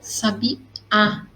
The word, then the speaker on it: sabiá: pessoa desconhecida libertou o sabiá para alegria de todos então sabe a um tipo de pássaro é isso então tem acento no ar porque a minha sílaba mais forte é o último alto sabia a ok oxítona